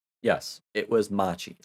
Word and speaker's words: Machi: here because i don't want to get her name wrong yes it was machi like i was saying that could have been